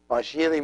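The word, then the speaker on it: ⲡⲁϣⲏⲣⲓ: And as you see, this is the shai, and this is the ita, which is the one pronounced like E, and then ro and iota, which is I. So it's pa shiri.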